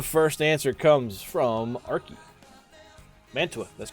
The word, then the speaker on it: Mantua: berlin mature or mara too i can't remember spell it you're on you're in the ballpark it's mantua anybody else to answer that question i don't